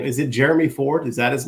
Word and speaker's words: Jerome: Is it Jeremy Ford? Is that his name? Yeah. Okay. Yeah. It's spelled like Jerome, but I'm with you, Jeremy.